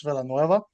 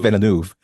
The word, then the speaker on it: Villeneuve: earlier this week between Christopher Nolan and Dennis Villeneuve, and they were talking about their what they like to do, their style. Wait, what is it? Villeneuve? Denny It's Denis Villeneuve. Villeneuve.